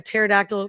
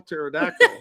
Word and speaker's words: pterodactyl: Why can't you hear a pterodactyl go to the bathroom? Why? Because the P is silent. Oh. Was that too bad? Some people are home going, how do you spell pterodactyl?